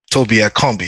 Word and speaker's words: Tobi Akanbi: is Toby and uh Toby at Combi it's just like the same way Tim pronounced it down here and um